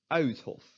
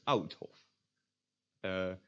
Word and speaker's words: Uithof: will be pronounced as Uithof. Uithof. So not as Oudhof. If you pronounce it as Oudhof, then you don't end on an U.